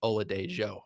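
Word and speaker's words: Oladejo: I said it wrong last week. It's Ola Dejo according to Robbie Stanley.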